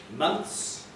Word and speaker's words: months: So the word months and the word close are quite reasonably pronounced as white and broad, so we don't have that. So the words months and close can be pronounced in that way.